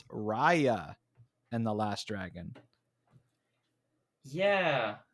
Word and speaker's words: Raya: I've been calling it Raya and the Last Dragon, but it's Raya and the Last Dragon. Yeah, which interesting pronunciation, but I think it does make more